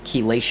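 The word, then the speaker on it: chelation: the human form so to detox heavy metals Kean that's spelled c h e l a t i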